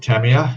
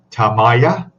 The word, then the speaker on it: Tamiya: Ball prices suggesting stay with Tamiya. Yes, Tamiya, Tamaya, however you want to pronounce it.